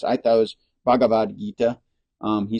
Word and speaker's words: Bhagavad Gita: called the bagad Gita or Bhagavad Gita it's Bhagavad Gita that's that's the way that my friend told me it's pronounced I thought it was Bhagavad Gita um he said bhad Gita okay b b